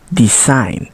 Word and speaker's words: design: we letter G now G can be silent too think about the word sign champagne design or foreign and a combination of